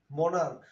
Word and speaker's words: monarch: যেমন দেখো, মনার্ক, MONARCH, মানে কি? সম্রাট। এই যে মনার্ক মানে শেষে কিন্তু ক উচ্চারণ হইতেছে, সিএইচ এর উচ্চারণটা কিন্তু ক এর মতো হইতেছে।